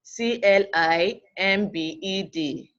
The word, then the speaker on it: climbed: vowels of voiced consonants example love the world CLI mbed pronounced us climbed climbed remember that this word a